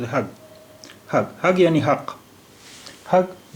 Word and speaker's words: حق: دیکھیے اماراتی ڈائلیکٹ میں یا اماراتی لہجے میں کہیں کہیں پر قاف کو تلفظ گا کی طرح ہوتا ہے. تو یہاں حق نہیں ہے اس کا تلفظ.